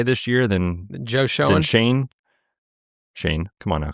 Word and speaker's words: Joe Schoen: Joe Schoen is how you say it.